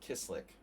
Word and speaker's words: Kislik: Kishlik. And, but that's the Hungarian way of pronouncing it. He pronounces it Kislik. So we've mispronounced his name, the poor guy, ever since he came here.